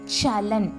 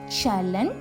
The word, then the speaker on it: சலன்: சலன் சா சப்பாத்திக்கு வர சா சலன்.